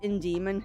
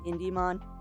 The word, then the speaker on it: Indemon: mispronouncing it but no it is in Demon not IND demon just me being weird